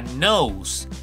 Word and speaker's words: nose: dientes si subimos encontramos la palabra knows knows nariz knows nariz ya vieron cómo se escribe nose nariz acuérdense que una